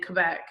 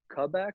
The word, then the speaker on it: Quebec: You said Quebec? Is that how you say it? Quebec, however you want to say it. Quebec. Yeah. Well, I think we say it a little bit more Quebec.